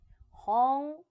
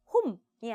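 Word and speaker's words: 本: 홍. 자, 우리 항상 응 부분으로 끝나면 얘는 이응받침에 가깝게 발음하는 것이 가장 예쁩니다. 했죠. 자, 그래서 혼이 아니라 홍 홍이라고 하시면 됩니다.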